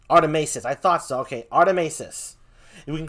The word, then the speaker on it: Artimeises: call them arty by the way is it pronounced rt maces or artemisis artemesis artemesis i thought so okay artemesis we can call him arty though but it's pronounced artemesis yes all right so inky and the uh